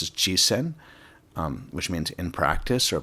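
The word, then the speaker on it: 実践: of this word on the screen, which is pronounced as jisen, which means in practice or putting into practice.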